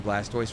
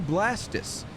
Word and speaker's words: Blastoise: Anyone who says we're pronouncing Blastoise wrong, I think that's my least favorite, actually. Like, look at the word tortoise, and look at the word Blastoise. It should be Blastus.